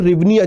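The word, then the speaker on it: hryvnia: और मुद्रा यहां पर रिवनिया चलती है। भले एच से स्टार्ट हो रहा है, एच यहां पर साइलेंट है।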